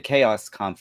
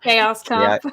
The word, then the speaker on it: Chaoskampf: You said as far as the Chaoskampf is concerned, or Chaoskampf, whatever, when you don't know whether to anglicize it or just keep it German way.